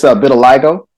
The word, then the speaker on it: vitiligo: It's vitiligo.